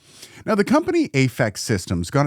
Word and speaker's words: Aphex: Well, one of my most hated interactions with him was about the pronunciation of Aphex. I called it Aphex. He just called it Aphex.